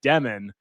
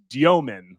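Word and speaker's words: Dëmin: He said when he came to the States, he just said Demen because he thought that was too complicated for, you know, us dumb Americans to be able to pronounce international names correctly. But it's it's Domen like D Y O min.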